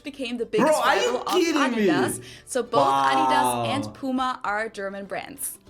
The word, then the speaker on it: Adidas: were referring to because they usually pronounce it Adidas and in Germany we say Adidas Adidas Adidas super different it's the secondar manufacturer